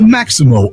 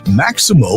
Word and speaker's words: Maxymo: The Maximo app, which is spelled Maxymo, it helps Uber, Lyft,